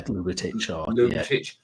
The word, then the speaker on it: Ljubicic: The great thing with Ljubicic, is that how you pronounce it? Yeah, Ljubicic.